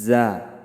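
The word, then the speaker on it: ز: দিকে লাগাইয়া সদ, সিন, জা। আবার বলি, জিহ্বার আগা সামনের নিচের 2 দাঁত যে আছে সেই 2 দাঁতের আগার দিকে লাগাইয়া সদ, সিন, জা উচ্চারণ করিতে হবে।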